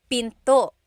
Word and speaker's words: pinto: door in Tagalog is Pinto pinto and remember don't forget the gladle stop don't forget to stop